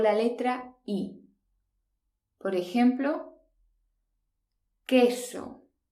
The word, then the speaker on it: queso: letra i por ejemplo queso fijaos que la letra un no se pronuncia no decimos hueso decimos que eso l sacra es el